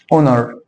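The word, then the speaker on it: honor: هنا الاتش مش هيتنطق اونر اونر هنا الاتش مش هيتنطق هنا ايهست انست انست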